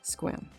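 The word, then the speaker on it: Sequim: the dungeoness National Wildlife Refuge it's north of Squam pronounced Squam but spelled s e q u i m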